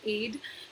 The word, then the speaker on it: aide: Close not actually aid, इसको pronounce किया जाता है aid.